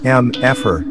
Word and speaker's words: mfer: It's pronounced M-F-er, and yes.